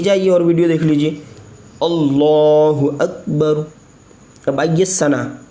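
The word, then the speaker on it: اللہ اکبر: अल्लाहु अकबर। ठीक है, अब अगर आप हिज्जे करना चाहते हो तो आप सुन लीजिए,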